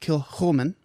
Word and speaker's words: Kilchoman: So I did bring some scotch, and because we are going to be discussing, a kind of a scary-ish movie, this is pronounced Kilchoman.